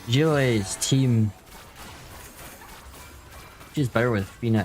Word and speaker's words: Zhiliu: What I need for Zhiliu. Uh-oh. Or Zhiliu. That's better. That's the pronunciation.